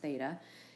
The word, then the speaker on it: theta: see often in math especially for trig is pronounced theta in standard position and it has a point